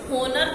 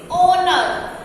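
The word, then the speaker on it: honour: Let's see some other examples, dash ऑनर, लिखा हुआ क्या है, लिखा हुआ है एच, एच रिटन है, ओनर में आ रहा है एच, बट हम इसे क्या बोलते हैं, होनर तो नहीं बोलते ना, इसे प्रोनाउंस करो, कैसे प्रोनाउंस करोगे, एच जो है वो साइलेंट हो जाता है बोलने में, लिखने में आता है बट बोलने में वो साइलेंट हो जाता है, इसे हम बोलेंगे ओनर।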